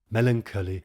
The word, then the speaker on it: melancholy: Melancholy here being pronounced as melancholy in three syllables to scan properly until life's composition be